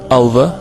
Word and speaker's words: Ulver: you're watching uberalis in athens and we are ulver even though i would pronounce it alva we are the wolves of greece actually there